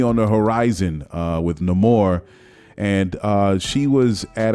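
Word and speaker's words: Namor: job uh Tino huertas no more I like the pronunciation everybody says Neymar now I think everybody's gonna be like no more and it's dope how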